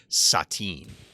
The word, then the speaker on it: Satan: And then, you know, Ralph tells a story, and then the devil guy says something nice, and Ralph's like, thanks, Satan. He's like, actually, it's pronounced Satine.